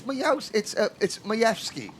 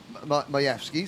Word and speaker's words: Majewski: And then 2, "Why do you say my name wrong? It's Majewski." Majewski, so I was like, "Okay, Majewski." And Aaron Majewskis said, yeah, that's how you pronounce my name.